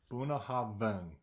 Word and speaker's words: Bunnahabhain: The second B is silent. Bunnahabhain. B-A-N. Bunnahabhain.